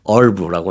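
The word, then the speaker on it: herb: 얼브라고 이제 하는데 네. 얼브. 예. 허브. 한국식으로는 허브. 미국 식으로는 얼브.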